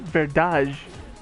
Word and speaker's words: verdade: But she said verdade. But they still spell it the same way in Portuguese. But the D becomes a J, and I'm just like, what?